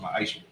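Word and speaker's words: מעשר: It means 10th in Hebrew and is pronounced ma'asher.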